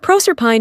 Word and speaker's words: Proserpine: It is to be observed that in proper names the final E and Es are to be sounded. Thus, Sibyl and Penates are words of 3 syllables, but Proserpine and Thebes are exceptions, and to be pronounced as English words.